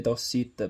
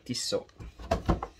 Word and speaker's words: Tissot: Anche se si legge Tossit, però è Tissot.